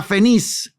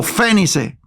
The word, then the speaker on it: Fenice: si pudiesen arribar a Fenice o Fénice. No tiene acento en la E, no es esdrújula, entonces se pudiera decir Fenice, creo, ¿no?